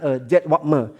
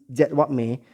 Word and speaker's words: Jedwabne: Mungkin aku salah aussprachenya, tapi dia Jedwabne, Jedwabne.